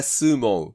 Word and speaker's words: sumo: だからちゃんと英語の発音でスーモって言わないとダめですね。